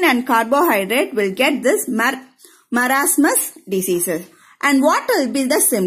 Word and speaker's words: marasmus: How to pronounce this? Marasmus.